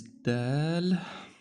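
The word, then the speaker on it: دال: Um the name of the letter is dal. And of course, the first letter of the name of the letter indicates how it's pronounced. Okay? So, it's pronounced Oh, sorry. Da, di, du.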